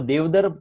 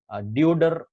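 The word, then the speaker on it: deodar: And examples है pine tree, दियोदर, इसको देवदर कहा जाता है एक्चुअली, डियोडर इसका प्रोनाउंसिएशन आप इंग्लिश में देखिए अजीब सा।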